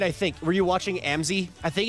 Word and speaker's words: Amzy: It is pronounced Amzy?